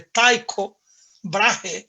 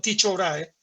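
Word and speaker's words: Tycho Brahe: maneras de llamarlo pero a mí me gusta decirles dicho vrae algunos dicen los norteamericanos hablan de taiko brage o los alemanes hablan de parajes pronunciando la h pero en castellano para los amigos dejémoslo en dicho grave dicho ahora en hace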